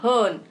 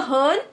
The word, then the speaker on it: hern: In order to create rhyme with फर्न.